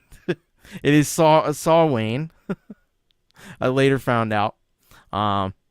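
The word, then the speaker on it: Samhain: shouldn't say that but it's not pronounced the way you would think anyway it's a big digression for me S um saw say almost did it force of habit saw Wayne is my very short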